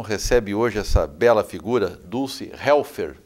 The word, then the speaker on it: Dulce Helfer: programa Mercado e Ação recebe hoje essa bela figura, Dulce Helfer. Pronunciei correto?